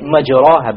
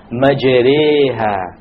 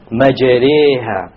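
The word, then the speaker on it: مجراها: is, you would say مَجْرَاهَا, but that's a mistake. You have to pronounce it with an imala. An imala is pronounced as this, مَجْرِيهَا, مَجْرِيهَا.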